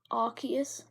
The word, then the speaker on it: Arceus: and then phase arcus you say I'll see it but I say our kids especially how you pronounce all achey especially Arceus because if you're looking at pokedex it goes like arc yes yeah um for